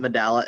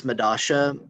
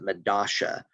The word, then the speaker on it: Medalla: buenos aires argentina and a specific dialect in buenos aires pronounces it medasha instead of medallia so for the midasha